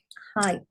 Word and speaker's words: height: And let's do a silent GH. Height.